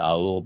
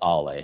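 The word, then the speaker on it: Aulë: I said Aeol, but it's Ale. I always pronounce him wrong, but I know how to actually pronounce him.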